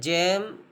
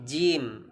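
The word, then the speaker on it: جيم: gym itu harus sempurna jangan kita baca jam tapi gym harus sempurna pengucapan huruf Jim Bapak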